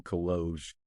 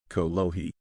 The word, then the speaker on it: kolohi: You little kologe, you. Kalama. It's pronounced kolohi.